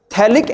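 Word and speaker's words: phthalic: का एनहाइड्रेट है यह थैलिक एसिड थैलिक एसिड और फिर थैलिक एसिड क्या होता है थक एसिड की स्पेलिंग में पी साइलेंट राहत है स्पेलिंग होती है ट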